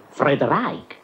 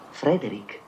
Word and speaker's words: Frederick: No, si pronuncia Frankenstein. Allora dice anche Friedreich. No, Frederick.